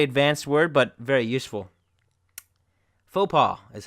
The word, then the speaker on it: faux pas: right here faux pas comes from French and that's why the ex is not pronounced when many people see